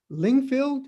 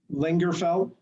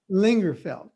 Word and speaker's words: Lingerfelt: to Mr and and forgive me if I don't pronounce this correctly lingfield is that correct lingerfelt lingerfelt okay uh particularly the young